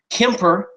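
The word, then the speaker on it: Kuemper: I mean, Darcy Kemper, as he graciously let me know on the forums last week, is how you pronounce his name.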